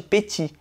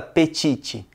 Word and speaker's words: petit: Isso você também já sabe, porque aqui no Brasil, todo mundo sabe que não é para falar o T no final de petit, como em petit gâteau. Afinal, ninguém fala petite.